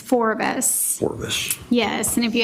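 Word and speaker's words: Forvis: It's Forbes. Forbes. Yes, and if you have trouble remembering it, it's kind of a combination of two words, which is forward vision.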